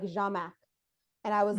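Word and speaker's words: Jhamack: name was spelled um j-h-a-m-a-c-k and it was pronounced like jamac and I was like it was just and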